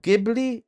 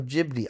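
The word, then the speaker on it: Ghibli: Oh, jibli or gibli or jibli? I say jibli. Jibli or gibi? How do you say jibli? I say jibli, too.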